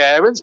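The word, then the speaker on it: Aarons: rough about don howe max aaron's to give him his proper pronunciation well i'll try and say errands but it's very hard to kick in habit of a lifetime it's pushed down raheem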